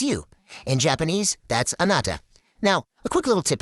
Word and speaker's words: anata: And just like we did before, let's sound out the syllables. A-na-ta. It has a really nice flow, doesn't it?